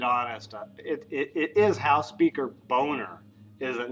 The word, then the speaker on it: Boehner: But let me just say, it's spelled Boehner. So how you get Boehner out of that, I do not know.